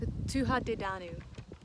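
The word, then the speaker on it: Tuatha Dé Danann: does my friend say my friend who's Irish she corrected me on my pronunciation uh tuja de danu oh my gosh here's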